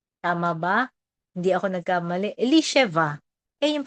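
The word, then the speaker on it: Elisheva: Eliseva. Ayan yung pronunciation.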